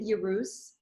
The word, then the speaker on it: Yerus: Is it Yerus? How do you pronounce that?